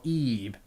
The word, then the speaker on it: Ib: I did a live stream of Ib, or Ebe. Depends on how you pronounce it. I pronounce it as Ib.